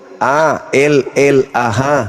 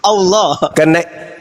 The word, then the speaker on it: Allah: Itu A-L-L-A-H. Itu ada. Ya. Itu bacanya apa? Allah. Karena ini berasal dari Quran, maka kami membacanya Allah.